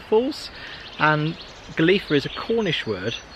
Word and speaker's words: Golitha: where he sent of drowned lovely walk through galifa fall it is isn't it so you might recognize it's actually spelled as Golia but it's pronounced as galifa Falls and galifa is a Cornish word it's for obstacle yes